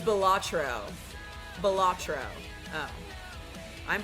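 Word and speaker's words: Balatro: Oh, it's Bellatro. Bellatro. Oh, I'm pronouncing it wrong.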